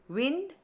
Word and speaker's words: wind: of wind is pinned wind pinned wind pinned i have to wind my clock the meaning is to turn the key of the clock and this word rhymes with fine wind fine wind pinned wind